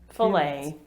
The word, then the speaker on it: fillet: not a sponsored video i order a fillet o fish fully but here's the distinction in britain we actually spell fillet with two l's because we came up